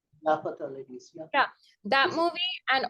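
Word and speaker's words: Laapataa Ladies: But the year Lat I don't know how to pronounce it. Latpata Ladies? Lapata ladies.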